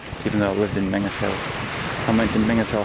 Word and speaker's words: Menzies Hill: It's actually spelled M-E-N-Z-I-E-S-H-I-L-L because presumably it belonged to the farmer Mingus. Now it looks like Menzies, so it should actually be pronounced Menzies Hill. Well, it looks like it should be pronounced Menzies Hill, but we pronounce it Mingus Hill.